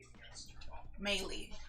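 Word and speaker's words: Meili: um i apologize um maylie is how you pronounce her last name okay so she leaves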